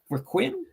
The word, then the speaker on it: Requiem: Requiem. Resident Evil Requiem. It's from the Greek Requiem, as well as 7 and Village is coming.